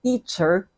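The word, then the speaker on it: titser: So we put in the Filipino or Tagalog sound, so it become teacher. So instead of spelling it with T-E-A-C-H-E-R, teacher in English, we spell it in the way we pronounce it, teacher. So we have T-I-T-S-E-R, teacher.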